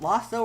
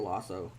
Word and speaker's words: Lasso: of ted lasso lasso is it lasso or lasso i mean it is spelt lasso because double consonants means a short vowel but i'll hear a